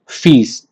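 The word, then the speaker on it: fils: 19थ century में French डेमेटिस्ट Alexander Dumas फीस। यह French है इसलिए यहां पर डमास में डमा एस साइलेंट रहेगा। एस एफ आई एल एस में एल साइलेंट रहेगा।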